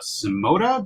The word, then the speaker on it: Symoda: and what Wayne's doing over there with uh simota did I pronounce that you pronounce it this time Sam